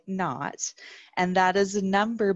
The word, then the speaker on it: naught: pronounced in math and physics, so is y naught. So it's spelled like this, naught meaning like zero, like nothing, naught.